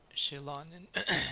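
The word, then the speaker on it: Xilonen: Shilonen. Shilonen is how you say.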